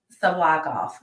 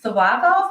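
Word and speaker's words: Tsyplakov: o OV OV um the t is silent sub off sub off I need to hear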